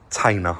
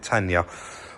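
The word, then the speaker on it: Tayna: Guys, so there is a link for a discount on your batteries from Tainer. I'm going to say it right because I kept calling it Tanya.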